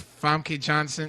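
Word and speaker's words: Famke Janssen: Our resident supervillain, John Aponic, says, any X-Men movie replace Famke Johnson.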